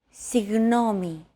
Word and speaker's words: Συγγνώμη: Another approach is to try to pronounce a G as if an H sound were to follow after it and hold that sound while you exhale. The after sound created by that H is what you're looking for.